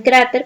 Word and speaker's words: cráter: Tenemos el caso de cráter, como les había mencionado. Cráter suena más en cra, ¿verdad? No es la última, sino la penúltima sílaba.